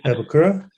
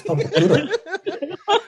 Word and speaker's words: Papakura: I have to say Papakura because I've had a few podcasts in the past where I've said Papakura. And all my mates from back home are like saying, pronounce it properly, man. It's Papakura. So I have to say Papakura.